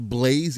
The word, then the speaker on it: Blaz: Nam says, I think it's still pronounced Blaze even without the E.